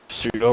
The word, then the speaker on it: pseudo: It's actually Suedo.